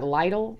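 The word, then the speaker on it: Lidl: like all these or little or some people I guess pronounce that Lydell which is I don't know light a light a light all it just sounds weird but you can go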